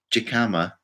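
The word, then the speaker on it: jícama: Alina's saying, I loved it when you said jicama, when the J has an H sound.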